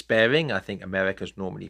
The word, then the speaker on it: Baring: in question is Morris bearing I think America's normally pronounced the name Maurice but I'm sorry I I can't do that so Morris bearing b a r i n g now the best way